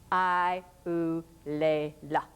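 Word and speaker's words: Eulalia: Spain sent the infanta I lea and she made certain that you pronounced her name with each syllable I lea.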